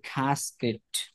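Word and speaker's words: casket: water পানি আর খ্যাসকেট একটি কৌটা শব্দের উচ্চারণটা হবে খ্যাসকেট না শব্দের উচ্চারণটা হবে খাসকেট খাসকেট খাসকেট খাসকেট মানে কি কৌটা খাসকেট কৌটা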